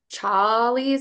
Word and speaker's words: Challies: And it's from Charlie's, I think is how you say it.